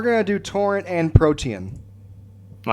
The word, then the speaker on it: Protean: No, I'm saying you pronounced it right. It's Protean.